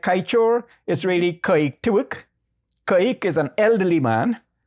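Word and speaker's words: Kaieteur: name of the falls, they said Kaik Tiwuk. And Kaik Tiwuk sounded like Kaichor to him. And he put his own spelling and pronunciation, which is unto now Kaichor.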